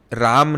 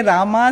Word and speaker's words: राम: तो जब मैं इंग्लिश का रील्स बनाती हूं कभी-कभी मुझे कमेंट्स मिलते हैं डोंट से रामा से राम।